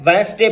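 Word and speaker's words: Wednesday: वेडनेसडे लिखा होता है, वेडनेसडे पढ़ेंगे।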